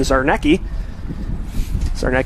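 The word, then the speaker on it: Czarnecki: inning clark cozzenza and zarnecki pronounced with a z what's spelled with c as that one sent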